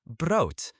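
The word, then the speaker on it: brood: The word for bread is bro. B R O D. Bro. Good. Notice the O sounds like in boat. Bro. And bro is neuter. So the bread. Het bro.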